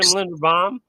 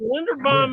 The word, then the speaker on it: Linderbaum: I think that's how you say his name, Linderbaum.